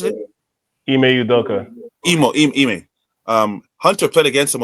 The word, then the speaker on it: Ime Udoka: How you pronounce it? Ime Udoka.